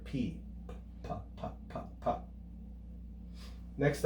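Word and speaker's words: Π: We commonly pronounce this as pi in English, but the correct Greek pronunciation would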